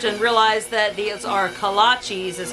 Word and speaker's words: kolaches: for our kolaches another confession i used to pronounce these collages because i thought that's what they were called until i did a little bit of research and realized that these are kolaches is how they're pronounced um and they're like